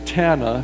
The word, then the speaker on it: Tana: years and and she her name is Tana she always has said rhymes with Montana so Tana dear friend